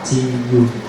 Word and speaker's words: tu: You may hear the word tu in Vietnamese, and the spelling of the word tu is very simple, T-U, and you can pronounce tu.